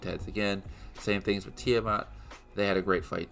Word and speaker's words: Tiamat: did not really like was that Sila and Tiamat that's how you pronounced it I used to say tiamet it's Tiamat um were just kind of thrown in there